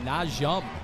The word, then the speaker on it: Najum: Just want to make sure to pronounce the young man's name correctly. Najum.